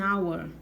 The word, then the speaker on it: hour: Enos, man, an hour. Então, esse H aqui não tem som.